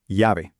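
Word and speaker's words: llave: Yave. Very good. The double L sounds like a Y.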